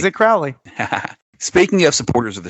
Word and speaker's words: Crowley: So he pronounces it Crowley.